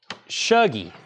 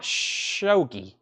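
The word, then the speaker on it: Shuggie: and Sons was 9.99 pronounce show G Shoji Otis Shoji shuggy not shogi wow okay uh the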